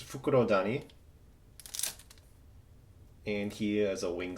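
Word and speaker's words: Fukurodani: It's Fukuro Dani.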